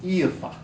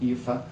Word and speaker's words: Aoife: One is called Sophia, so that's easy for English people to pronounce. The other is called Aoife.